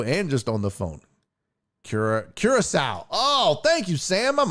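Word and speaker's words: Curaçao: You got to spell it like cure, C-U-R-E, cure dash and then S-O-W. Well, yeah, I'd say Curacao, and then you can say sow like cow.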